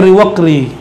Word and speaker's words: Riwaqri: Ini beberapa pembacaan di luar Sumatera ada yang salah baca. Riwakiri, jadi nama kayak nama-nama pemain kartun tuh, Ryu. Teman-teman kita, sahabat kita Kiri namanya, Riwakiri. Bacanya Riwaqri atau sejenis itulah ya.